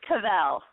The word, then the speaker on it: Cauvel: It's Cauvel.